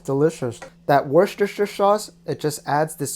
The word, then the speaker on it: Worcestershire: to put an ingredient that I can never pronounce. It's Worcestershire. You see most of the liquid from the vegetables have gone. Perfect time to put in 1 tablespoon of Worcestershire sauce.